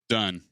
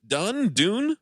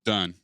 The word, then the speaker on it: Dunne: Practical Magic was directed by Griffin Dunne. Done. Dune? Done. Why is the E at the end then? So you don't pronounce it Dune.